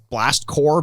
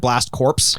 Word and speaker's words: Blast Corps: As a dumb kid, I actually would have loved that they called this game anything but Blast Core, because I called it Blast Corpse.